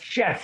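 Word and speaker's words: Scheff: We wanted to go back and talk about the Mickey Dolenz and Jason, I don't know how you say it, Chef? Chef, yeah.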